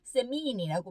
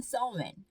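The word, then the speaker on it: Samhain: 세민이라는 요것도 역시 미국식과 영국식 발음이 꽤 좀 차이가 나더라고요. 세민이라고 미국에서는 얘기를 하는데 영국에서는 서웬 이렇게 얘기를 하는 그 명절에 유래된 날이 할로윈이라고 합니다.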